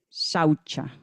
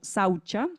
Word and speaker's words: Shaucha: han escuchado y es shaucha. Repitan, shaucha es un poquito enredada. Eh, se pronuncia comúnmente como saucha, pero en realidad desde el sánscrito suena más como una sh al principio.